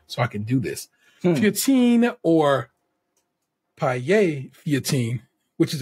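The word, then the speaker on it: feuilletine: That is a French-ass word, and it's a difficult pronunciation.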